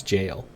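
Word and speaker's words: gaol: that how you Gil how do you even pronounce that because it's the jail I understand that oh so it is still pronounced as jail okay never knew jail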